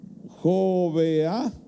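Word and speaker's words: Jogbeha: Y subió Gedeón por el camino de los que habitaban en tiendas al este de Nova y Jovea, así se pronuncia, y atacó el campamento cuando el campamento estaba desprevenido.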